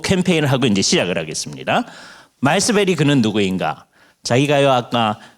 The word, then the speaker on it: 말스베리: 그랬더니 마스버리라고 드리기도 해요. 근데 그 버리가 베리를 빨리 할 때의 버리 같아요. 그래서 한번 요요 캠페인을 하고 이제 시작을 하겠습니다. 말스베리 그는 누구인가?